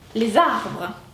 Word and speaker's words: les arbres: Par exemple, on dirait les arbres. Vous entendez ce petit zzz?